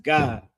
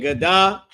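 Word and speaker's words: גד: It's just pronounced God, like God and Da connected. Instead of it being Gadah, it's just God, right?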